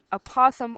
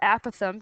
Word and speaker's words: apothem: side there, that is called the apothem or apothem, depending on how you want to pronounce it here. I've heard it both ways.